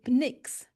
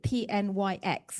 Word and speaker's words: Pnyx: Um, and it's a path from the Pnyx. Not quite sure how to pronounce that, but p n y x. You got it right. Okay, Pnyx.